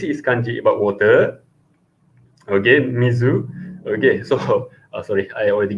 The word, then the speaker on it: 水: Okay, so the kunyomi for this kanji is actually Mizu. Okay, so I think for Mandarin speaker, you never see this type of pronunciation.